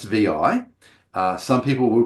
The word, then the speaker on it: vi: So it is correctly pronounced vi. Uh some people will pronounce it vi which is not correct. Okay. And I once heard someone pronounce it six which I thought was priceless.